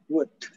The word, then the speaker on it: would: Ya, L-nya nggak dibaca. Would.